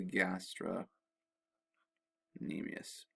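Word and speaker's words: gastrocnemius: And then way down here, your calf muscle is called the gastra nemius with a silent C.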